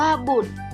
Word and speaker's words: บุตร: เป็น ตัว สะกด ค่ะ บุตร อ่าน ว่า บุตร ชาย ต่อ เต่า กับ ร เรือ เป็น ตัว สะกด ค่ะ และ สามารถ อ่าน ว่า